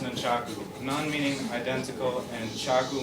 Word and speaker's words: nunchaku: Actually, they are pronounced nunchaku.